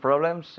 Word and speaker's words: problems: of problems yesterday yeah we don't pronounce the e in problems problem problem problem i